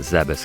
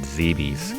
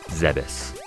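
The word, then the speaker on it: Zebes: least when you're traveling around the world of zebas gotta say it's odd for me to pronounce it zebus because I always said zeebies growing up but apparently the correct Canon pronunciation is zebus sounds very strange but we're gonna head up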